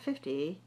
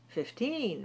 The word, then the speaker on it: fifteen: percent let me see teen 15 not 50 15 right 15. stressed the second syllable and but that on the teen 15 15 15 of